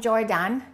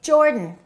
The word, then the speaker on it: Jordan: Don't say he is from Jordan. Reduce that a and say Jordan.